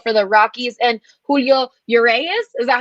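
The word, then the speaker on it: Urías: is antonio cenzatella for the rockies and julio your a is is that how you say it yes uh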